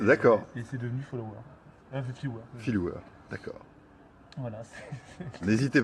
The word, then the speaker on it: Philouwer: Phil Ouvert, comment tu prononces? Philware, Phil Ouvert.